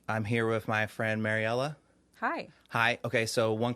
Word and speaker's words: Mariella: how you say it it's mariella okay right so i hated my name growing up because nobody could ever pronounce it and i grew up in south texas where it's predominantly i mean it's hispanic and so nobody could ever pronounce my name so i would get like marcelina marianella maricella i'm like oh my gosh it's mariella how can you not pronounce